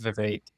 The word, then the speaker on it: Vivek: So it's actually super common in India, but it's pronounced Vivek.